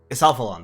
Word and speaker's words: Isalphalon: One second, how do I pronounce that again? Isalphalon, that's right, here as Blood Isal, versus MrProgressor.